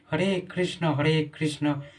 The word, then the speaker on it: হরে কৃষ্ণ: মানে কি বলেন, হরে কৃষ্ণা, কৃষ্ণা হচ্ছে দ্রৌপদীর নাম। আমাদের কি বলছে, হরে কৃষ্ণ, আমাদেরকে ক্লিয়ার পরিষ্কার করে উচ্চারণ করতে হবে।